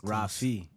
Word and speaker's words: Rafi: hold on so how did I I said Rafi Rafi Rafi it's it's Rafi you can't force it though it got to